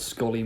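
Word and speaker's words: skollie: Scolly, like trolley.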